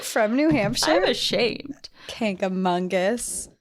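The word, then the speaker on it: Kancamagus: New Hampshire I'm ashamed K aongus I think part of what I want to say is kangus cuz I always say that but there's no n in there there's no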